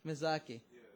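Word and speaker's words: Miyazaki: pronounce his name Ha yai how do you pronounce his name Rie mizaki mizaki mizaki okay there you go he's he's he's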